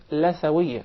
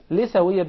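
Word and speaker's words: لثوية: It is commonly mispronounced. Some people will call it Lathawiyya. Rather, in Arabic it is called Lithawiyya because we call the gum Litha. Yes. So that's why it is proper to say Lithawiyya.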